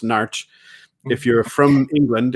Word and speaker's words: Norwich: I was born in a place that if you're from there, if you're local, is pronounced Narch. If you're from England, it's pronounced Norwich. And if you're from farther away, they say Norwich because that's what it looks like.